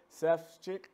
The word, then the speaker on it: Sefcik: and I am here with uh Kyle Seth's chick that's right got it right all right brother